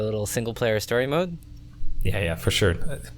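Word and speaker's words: Ys: uh so wise do you know how to pronounce this I think it's ye is it ye okay so it's y s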